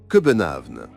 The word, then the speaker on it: København: Les Danois prononcent le nom de leur capitale, Copenhague, sous la forme København.